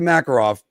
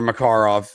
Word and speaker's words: Makarov: But anyway, going back to Makarov or Makarov, whichever one you want to put the emphasis on the different syllable.